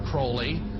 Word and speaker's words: Crowley: bring have his name pronounced crowley to rhyme with holy and uh the satanists